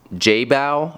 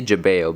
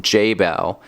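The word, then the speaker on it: Jebao: i say that that brand wrong it's actually pronounced jay bao i say jabeo but it's pronounced jay bao and um i had a couple different of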